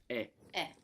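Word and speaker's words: è: all of that is e. Now this e is pronounced a little bit smiley. So make a smile and with an open mouth make e. And there you will get the sound.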